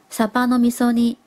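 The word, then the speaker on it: サバの味噌煮: 味噌煮青鱼的日文是念作サバの味噌煮。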